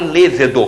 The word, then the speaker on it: lêvedo: por aí a palavra oficialmente é levedo não é levedo embora alguns dicionários resistem as duas em um concurso Vale lêvedo que é a melhor melhor pronúncia ao alcali alcali e